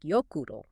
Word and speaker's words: Jökull: A is pronounced like ow, as in cow. Ow. And O is pronounced like oo, as in zoo. And that's the key to Jökull and Snæfellsjökull. It's more like Jökull.